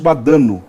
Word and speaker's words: Badano: Badano, essa é a pronúncia correta.